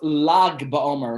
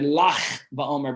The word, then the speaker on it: Lag BaOmer: People wonder what's Lag BaOmer, or something say Lach BaOmer, because the G in this country is pronounced as Ch. But it's not Lach BaOmer, it's Lag.